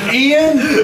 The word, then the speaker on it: Ian: It's pronounced, not Ian. It's Ian.